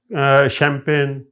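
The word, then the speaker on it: champagne: अब हम देखते हैं वड द फ्रेंच ओरिजन जो फ्रांसीसी जुबान से लफ लिए गए हैं उनको जब हमने सी एच के साथ लिख यानी वहां यह जुबान जब इस्तेमाल होती है तो उनके हां यह श की बात देती है एस एच की बात देती है जैसे आप देख रहे हैं ब्रोशर शैंपेन शेफ और मशीन और मस्टे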